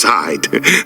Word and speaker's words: Said: It's pronounced side, like the side of a barn door.